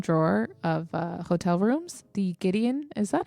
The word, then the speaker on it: Gideon: The Gideon, is that how you pronounce it?